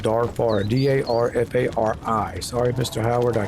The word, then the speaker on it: Darfari: You're in a Dafari camp. Or I should say, Darfari. That's how it's spelled. Darfari.